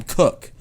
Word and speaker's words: Koch: punter for the ravens sam cook but cook is spelled koch oh yeah and it's like how the hell did you get cook out of that so shout out to